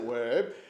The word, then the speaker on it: ouais: had taught me that they don't say oui, as in yes in French, they say ouais. And so the Québécois pronounce it ouais.